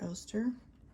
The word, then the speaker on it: Oster: I've heard it pronounced both ways. And I say Oster because I know there are appliances like toasters and blenders, so that's kind of out of focus there, that are Oster. That's just what when I see that word, that's how I pronounce it.